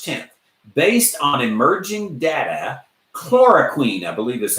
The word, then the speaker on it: chloroquine: is from March 10th based on emerging data chloroquine I believe is how you say it Clark